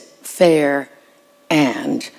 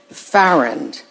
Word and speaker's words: Farrand: it the wrong way she herself said that you pronounce it fair and or I would say like errand Ferrand since and I won't